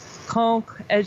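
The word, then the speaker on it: Caen: south from um fleur you could go through conch as you've been there that that is it's kind you know it's a big city cool right but yes conch yeah yes ceo and que no uh c-a-e-n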